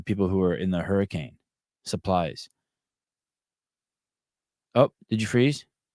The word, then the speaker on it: Hurricane: like it looks like hurricane but it's it's pronounced hurricane um and is it is it a CrossFit